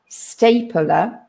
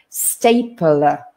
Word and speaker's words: stapler: a bit strange because between the p and the l we have that schwa sound we kind of put another vowel in there stapler stapler stapler and staple